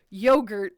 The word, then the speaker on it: yogurt: It is technically yogurt because it's not ya or y ah or y a w. It's yo. So like yogurt just like it's not a zebra, it's a zebra.